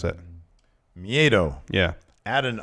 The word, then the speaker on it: Miedo: How you pronounce that? Miedo.